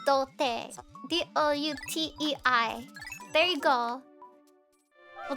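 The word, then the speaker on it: 童貞: It's dote.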